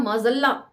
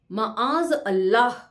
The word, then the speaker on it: माआज अल्लाह: तो यहां माजल्ला को नीचे फुटनोट में दिया हुआ है करेक्ट फॉर्म में, माआज अल्लाह। असल प्रोनाउंसिएशन ये है, लेकिन गांव के लोग उसे तोड़कर पढ़ते हैं।